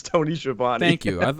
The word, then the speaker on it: Schiavone: was born I could promise you it's Tony Schiavone thank you I was confused for a second